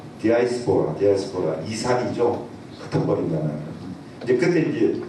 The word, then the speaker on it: 디아스포라: 그 이제 다이스포라라고 하면 발음이 정확한 디아스포라 이산이죠.